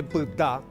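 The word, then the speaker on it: py: La primera pareja, esto se lee pta, es una palabra oral que significa talón. También significa quedarse, verbo, pta.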